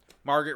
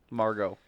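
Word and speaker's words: Margot: they didn't have um Margaret Robbie as a nominee Margo Margo say it right bro you can't disrespect the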